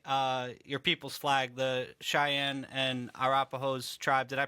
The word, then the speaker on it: Cheyenne: you probably fly uh your people's flag the Cheyenne and Arapaho tribe did I pronounce that right yes sir cheyen and rapo